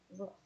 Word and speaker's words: roof: roof (ruff), I don't- I'm not consistant with how I pronounce it, I can't really decide. I grew up saying roof (rewf), but, I think roof (ruff) is kind of a funny thing to say, so I